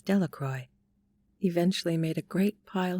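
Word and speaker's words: Delacroix: and Harry Jones and Dicky delaqua the villagers pronounced his name as delacroy eventually made a great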